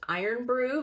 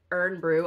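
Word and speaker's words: Irn-Bru: Also, one of the characters is always drinking something that I found out is pronounced iron brew, but it looks like urn brew.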